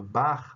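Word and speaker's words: Bach: bastante peculiar né a aquele grande músico chamado bar é o nome é que vende música se escreve com c h b a c h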